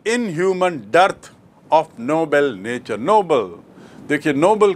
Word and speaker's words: Nobel: तो आपको स्पष्ट याद रखना चाहिए कि नोबल मतलब नेक, नोबल मतलब उच्च श्रेणी का, और नोबेल एक व्यक्ति का नाम जिसके नाम से पुरस्कार है.